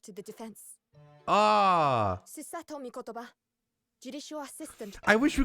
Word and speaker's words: Mikotoba: Ah, Susato Mikotoba, judicial assistant. I wish we could have Ryunosuke so we could hear how that's pronounced as well.